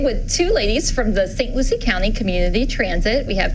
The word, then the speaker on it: St. Lucie: St. Lucie County Transit.